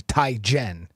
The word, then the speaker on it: Teigen: It's actually Ty Jen.